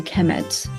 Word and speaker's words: Kemet: uh they will be the noun will be pronounced a Kemet so so uh Egyptians